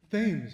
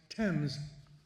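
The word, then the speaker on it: Thames: Spell it. Say it. Fames of course. No, for whatever reason and by whoever's decision, it's pronounced temps.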